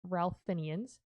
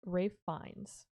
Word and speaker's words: Ralph Fiennes: It is not Ralph Fiennes, it is Ralph Fiennes.